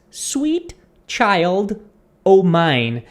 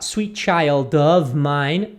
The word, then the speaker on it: Sweet Child O' Mine: que seria aqui né o f ele não fala a pessoa pode falar Sweet Child of Mine mas como se fala uma um ritmo normal de conversação a pessoa vai dizer Sweet Child O'Mine por exemplo eu falei